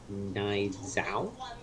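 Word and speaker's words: Nianzou: in the list um his name is nine Zao that's how you pronounce it mine's out another young French Center back born in 2002 and he's 21.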